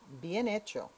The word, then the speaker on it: bien hecho: repeat after me B notice the H is silent beo again well doneo again